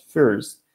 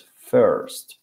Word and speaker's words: first: Entonces, en este caso no es first, es first, con E, first.